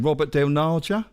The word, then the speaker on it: Robert Del Naja: Robert Del Naja, the singer, isn't he the founder?